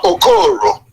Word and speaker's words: Okoro: I know it's spelled like OKIO, but the pronunciation is different. Dr. Okoro.